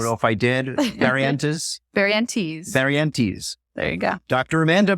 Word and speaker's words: Barrientez: As I pronounce it correctly? That works. I don't know if I did. Barrientez? Barrientez.